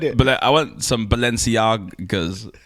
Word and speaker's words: Balenciaga: I want some Balenciagas. Am I pronouncing it right? You are. Okay.